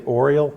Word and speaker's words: Orual: So in the retelling, this sister is named, it's O-R-U-A-L. I always want to say Orual because it kind of sounds like Oreo cookie. But I think that the correct pronunciation is something more like Orual.